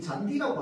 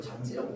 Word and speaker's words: 잔디: 우리는이 잔디라고 하는 말이 있어요. 자, 그런데이 잔디라고 하는 걸 보고 발음을 가지고 우리가 이걸 잔지라고 발음하지 않습니다.